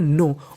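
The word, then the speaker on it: know: डब्लू इसे पढ़ते हैं नो और मैं आपको बता दूं कि अगर आपको कभी भी एन से पहले के लिखा मिले तो हमें के का उच्चारण नहीं करना होता हमें खाली एन का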